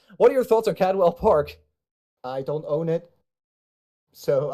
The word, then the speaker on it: Cadwell Park: that okay so uh uh Coldwell Park later on today Cadwell Park Cadwell Park Cadwell Park okay it's literally my home track pronunciation biting me there yeah it's English it's English catwell all right all right